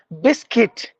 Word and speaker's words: biscuit: binoculars it's like binoculars Biscuit the letter letter U is actually mute so you have to go with the remaining biscuit Bou Boutique we usually